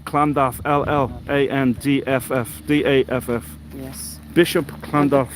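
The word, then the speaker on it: Llandaff: than the Welsh language LL yeah which is pronounced C clandav LL a-n-d-f-f-d-a-f-f yes Bishop clandolph the beauty of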